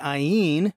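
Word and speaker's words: ayin: over to skin the ien right here that's an ien that's how you say that letter in hebrew and this one is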